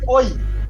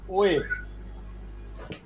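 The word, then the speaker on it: 외: এটার উচ্চারণ হওয়ার কথা ছিল কি? ও এবং ই, ওই। এটা ওই হবে না, এটার উচ্চারণ কি হবে? ওয়ে, ওয়ে। অর্থাৎ ওকার অন্তস্থীয় একার, ওয়ে।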